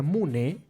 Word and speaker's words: munay: siguientes verbos luego tenemos el verbo munay pero que se pronuncia munné que significa querer o